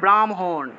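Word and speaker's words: ब्राह्मण: ব্রাহ্মণ সংস্কৃত উচ্চারণটা হবে ব্রাহ্মণ ব্রাহ্মণ ঠিক আছে ব্রাহ্মা আছে উচ্চারণ হবে ব্রাহ্মা ব্রাহ্মা এইভাবে উচ্চারণটা হবে অর্থাৎ মটাকে আগে উচ্চারণ করতে হয় যদিও এখানে যুক্তবর্ণের ক্ষেত্রে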